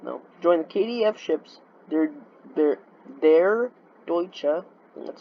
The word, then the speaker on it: Der Deutsche: Joined the KDF ships Der Deutsche, that's how you pronounce it, Oceana, and Sierra Cordoba on a group cruise of the North Sea.